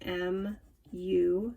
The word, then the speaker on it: mu: which this greek symbol is called mu it's pronounced m u mu is 5 feet 9.3 inches okay the